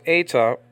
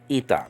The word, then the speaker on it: eta: a deal okay so in biblical Greek it's pronounced ETA and in modern Greek is pronounced ITA now let's backtrack and